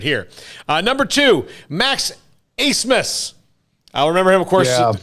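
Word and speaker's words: Abmas: the fact that uh he much like brett favre before him has convinced everybody to say his name a different way than it spelled and i i respect that yeah yeah what is it it's a-b-m-a-s is that right craig yeah yeah yeah yeah acemus acemus and number one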